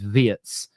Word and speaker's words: Wirtz: This happens a lot with international names, but they're saying it isn't Wirtz, it's Wirtz. So I'm going to bow